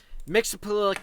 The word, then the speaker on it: Mxyzptlk: Mxyzptlk your That's how you say it.